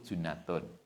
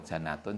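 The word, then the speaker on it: جُنَّة: kan jika puasa Itu junnatun motornya junnatun ya bukan di Kalimati Pondok Gede Pondok hanya butuh harokat kalau dibaca Chinatown jadi Jin kalau jannatun jadi surga kalau junnatun tameng bacanya kita harus bener assaumu itu junnatun washoddaqo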